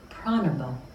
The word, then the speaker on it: pranava: There's another word for the Om, and that word is pranava. The pranava actually is how it's pronounced.